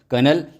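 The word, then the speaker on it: colonel: कर्नल कर्नल बोला जाता है।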